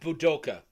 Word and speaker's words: Budoka: How do you Oh, spell that? Budoka. It's Budoka. B-U.